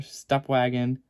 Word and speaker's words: Stepwgn: on the window there Step Wagon spada on the badge and yeah and before people ask it's it's spell s-t-e-p-w-g-n but it's pronounced step wagon that's always confused me